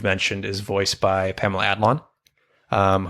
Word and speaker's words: Adlon: is voiced by Pamela Adlon, whose name we mispronounced a lot. And the last time we mentioned her, We kept saying Adelon. yeah, we added a syllable.